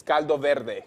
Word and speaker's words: caldo verde: I just pronounced it the American way. It's Caldo Verde.